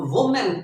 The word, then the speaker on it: women: तो वुमेन, वुमेन, वुमेन की जमा जो है वो विमेन है, विमेन, ठीक है जी।